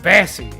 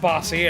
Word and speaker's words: Bassy: to bed boss bassy your name is pronounced bassy the machine wants to pronounce it bossy and i'm [ __